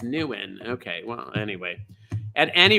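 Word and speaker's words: Nguyen: oh look at that pronounce oh newen now he thinks it's new in okay well anyway at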